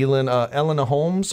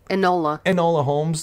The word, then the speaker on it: Enola Holmes: I've really liked her signing up with Netflix, the Elena Holmes, or how do you pronounce it? Enola Holmes.